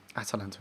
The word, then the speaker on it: Atalanta: Atalanta, anyway. I keep saying it wrong. Always confuse me with Atlanta in America and Atalanta. It's like the extra A is just on purpose to be different.